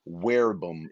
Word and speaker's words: verbum: and werebum or verbum there's really no v in latin so you pronounce it v as a w most don't know that so pro werbum it means pro in